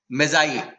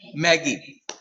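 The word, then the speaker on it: Magi: जब इसके पहले चैप्टर में हम लोग पढ़े थे गिफ्ट ऑफ मैजाई। लेकिन बच्चे उसको क्या पढ़ते हैं? मैगी। स्पेलिंग वैसे ही है।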